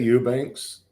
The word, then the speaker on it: Ebanks: bad thank you and did I pronounced the last name right do you say Eubanks or Ebanks um well I say Eubanks a lot of people say Ebanks and they think my name they see it written they think there